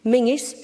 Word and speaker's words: Menzies: Castle it's spelled colzine Mingus spelled Menzies cargonian which is a village